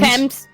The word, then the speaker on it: Thames: seem to be headed towards the team the teams Thames Thames I knew it was a hard tee